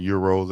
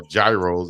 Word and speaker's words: gyro: Yeah, you go in the South somewhere and they'll pronounce it how we see it. That's gyro, but euros as we call them, I love them.